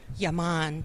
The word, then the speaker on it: Yaman: Do you pronounce it Yaman? Yaman.